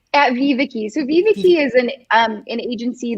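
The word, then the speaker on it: VivaKi: The Associate Director of Offshore Operations Strategy at Vivica. Am I pronouncing that correctly? At Viviki.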